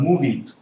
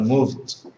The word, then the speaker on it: moved: less something like this moved with d okay so it's usually